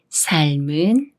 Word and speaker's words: 삶은: 이응이 오면 어떻게 읽을까요 리을 미음 중에 초성 이응과 더 가까운 미음이 소리가 나지 않는 이응 자리로 올라가서 여기는 리을 받침 소리만 남게 돼요 그래서 사에을 사을 살이라고 읽고 여기는 무와 은을 합해서